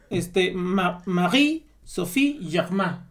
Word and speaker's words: Marie-Sophie Germain: pronuncia así, ¿no? Marie Sophie Germain, ¿no?